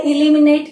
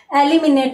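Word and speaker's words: eliminate: Pronunciation इसका इस प्रकार से इलिमिनेट न होकर एलिमिनेट भी होता है। और शुद्ध में तो अपन एलिमिनेट ही बोलेंगे।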